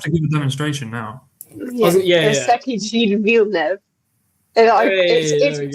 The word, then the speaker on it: Circuit Gilles-Villeneuve: I'm like, wow, look at me, I can pronounce it in French. But you have to give a demonstration now. Circuit Gilles-Villeneuve.